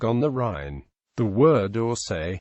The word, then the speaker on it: Orsoy: The word Osay pronounced Oscow means horse pasture.